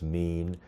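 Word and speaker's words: מִין: AFTER THEIR KIND, IT'S THE HEBREW WORD WE PRONOUNCE "MÎN," THAT WE WOULD SAY IS MORE AT THE FAMILY LEVEL OF CLASSIFICATION.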